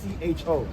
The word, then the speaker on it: Necho: You don't know how to spell it. It's Necho. Necho. Ah, Nico.